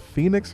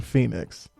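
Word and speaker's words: Penix: It's like, I think he pronounced it Phoenix or something, Junior. I only say that because it's not like Phoenix the city. He doesn't spell it that way, but I believe on the broadcast they kept saying Phoenix.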